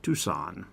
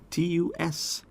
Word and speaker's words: Tucson: Tucson. Tucson. I know that's kind of weird, right? We don't pronounce the C there.